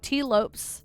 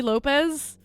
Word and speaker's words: Lopes: I don't know if you know this, but Tops rhymes with ropes. Thank you. Thank you. I've been calling him T Lopez.